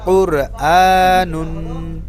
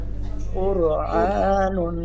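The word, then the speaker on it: قرآن: কফের উপরে পেশ আছে, তো র পুর উচ্চারণ হবে কুরআনুন। কুরআনুন।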